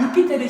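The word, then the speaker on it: Iuppiter: 그는 근엄한 표정으로 묵상하는 듯 응시하는 신성한 유피테르 신, 여기 이제 주피터를 말하는 건데요. 우리가 알고 있는 그 제우스 신의 그 이탈리아 발음이 유피테르라 부르거든. 알겠지?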